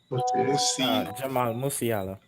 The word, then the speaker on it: Jamal Musiala: Pronounce for me the Bayern Munich guy again. Jamal Musiala.